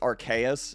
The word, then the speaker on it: Arceus: good um yeah wait how do you say arceus real quick is it arthur arceus i've it's apparently it's archaious apparently to what they've said but oh i i